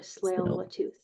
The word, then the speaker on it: Tsleil-Waututh: It's like saying sleigh, and then you just add the ul at the end, so Tsleil-Wat or Tsleil-Waututh.